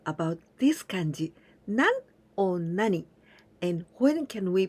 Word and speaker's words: 何: In this case, always with this pronunciation, nani, nani.